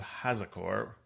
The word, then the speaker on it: Hazakore: main topic is the hidden halls of hazakore am i saying it correctly yeah absolutely okay good uh an adventure